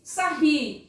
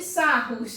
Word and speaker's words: Sarrus: regra, chamada regra de Sarri, ou de Sarrus, ou o que você preferir, o que você achar melhor. Se escreve Sarrus, mas a gente pronuncia Sarri.